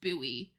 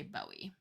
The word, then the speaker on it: buoy: it's it's everyone is saying it's it is pronounced buoy but some people choose to still say Bowie okay they're just wrong I just don't know